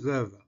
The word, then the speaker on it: baba: On écrit Baba, mais on prononce Vava.